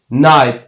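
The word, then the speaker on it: night: اما خودش تلفظ نمیشه و یا هم میگیم نایت میبینید در وسط کلمه دی شماده تلفظ نشده بغلان همچنان به معنی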